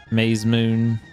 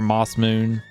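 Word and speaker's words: Masamune: Because I think technically this sword's pronounced like the Maze Moon or whatever. Or Moss Moon. Technically. I would call it the Mazamine.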